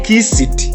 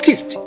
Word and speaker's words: kissed: When we add ed, we pronounce kissed. Don't say kiss it. No. It is not pronounced as kiss it. Rather, it is kissed.